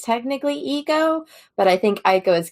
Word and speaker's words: Aiko: Aiko. So, according to Marissa, it's Eiko, but because the audiobooks say Aiko, she says that it's just both now.